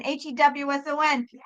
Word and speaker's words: Hewson: No, Houston is a city in Texas, not my real Bono's name, Paul David Houston. Yay! I told you folks you had to spell it right because everyone calls him fucking Houston. And no, he's not a city in Texas. Paul David Houston, Hewson.